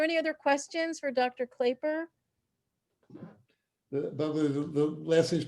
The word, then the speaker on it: Klaper: right are there any other questions for dr claiper the last thing is pronounced clapper i always get that wrong they know it's